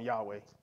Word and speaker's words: Yahweh: made at pronouncing it normally we English folks put vowels in there to make it pronounce what we call them Yahweh you've heard these people